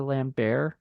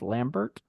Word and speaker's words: Lambert: the weirdest thing is saying Christopher lamber you know when I'm used to the name being like pronounced Lambert you know yeah that weird pronunciation that like French I guess pronunciation of I guess it's French yeah it sounds French yeah well he is French so um and uh